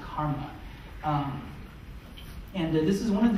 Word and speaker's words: CCRMA: and music and acoustics at ccrma and it's pronounced karma and this is one of the two places